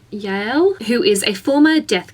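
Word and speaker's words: Yael: a character that okay I'm not sure how to pronounce the name it's y a e l Yale I Yale who is a former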